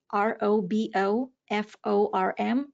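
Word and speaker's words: RoboForm: use Robo form that it's spelled r o b o f o r m Robo like robot Robo form and it's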